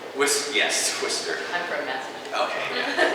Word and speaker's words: Worcester: It's not pronounced the way it's spelled. Worcester? Yes, Worcester.